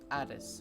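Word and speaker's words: ATIS: air traffic controller or something known as the addis which is spelled as a t i s this works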